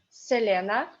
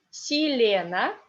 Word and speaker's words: Selena: So now we will speak about this celebrity, Selena Gomez. In Russian, we call her Selena because accent is on ye, and this ye is unstressed. Selena Gomez. Selena Gomez.